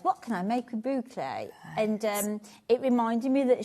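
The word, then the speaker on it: bouclé: So, yes, we already sell a lot of boucle.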